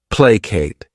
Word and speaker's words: placate: This word has two syllables and the stress is on that first syllable. plate.